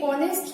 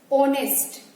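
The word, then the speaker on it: honest: वो गलत है क्योंकि ये ऑनेस्ट जो वर्ड है इसमें एच साइलेंट है। ऑनेस्ट आवाज किसकी आ रही है, ओ की, और ओ क्या है, एक वाउल है।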